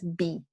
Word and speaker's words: bee: El bee, como de abejas, bee, ¿ya? Y con la I tensa, bee.